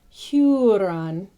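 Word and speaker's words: Húrin: So you always want that oo sound. Tuna is tuna. So it's just as you would say tuna, tuna, Huron, Turin, Tur.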